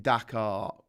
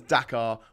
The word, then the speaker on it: Dakar: the capital of uh bangladesh is dakar with a h whereas the capital of senegal is dakar with an r so they're pronounced the same but um different but